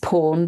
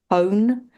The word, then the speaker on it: pwn: I think sometimes pronounced pawn, but from what I can see, it might also be own, POWN.